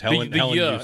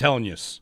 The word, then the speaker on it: Helenius: Yeah, like use. The word use. Helenius. In the second part. Three syllables. He said it. It's Helenius. Helenius.